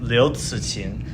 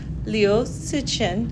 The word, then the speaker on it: Liu Cixin: Right now we're talking about the three-body problem by, I'm going to try it, Liu Cixin. Yeah. How do you say it? I would say Liu Cixin. Liu Cixin.